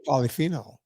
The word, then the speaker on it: polyphenol: word for you Vinnie polyphenol yeah that's two well polyphenol that's one word it's one word it's one word thank you poly phenol four syllables WHYY I mean that's